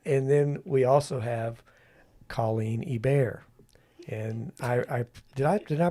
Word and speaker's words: Hebert: And then we also have Coleen Hebert. And I did I pronounce that correctly? It's all right. I'll let it slide. Okay. It's pronounced Hebert. Hebert.